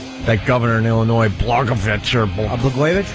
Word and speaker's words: Blagojevich: That governor in Illinois, Blagojevich. Blagojevich? Blagojevich, right.